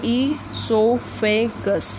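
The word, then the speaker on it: esophagus: देखिए मैंने यहाँ पर भी अलग से आपके लिए लिखा है, ईसोफेगस को कैसे प्रोनाउंस करेंगे, ईसोफेगस।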